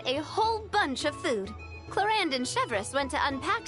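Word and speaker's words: Clorinde: So that's how you pronounce her name. Talking about us? Clorand!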